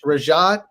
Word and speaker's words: Rajat: notification Service uh rajad correct me if I mispronounce that is that that's how you pronounce your last name right you got it right oh good good you'd